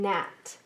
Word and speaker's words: gnat: special sound is in gnat there are two words that we have as examples the first one is in the word gnats the g is silent and in this word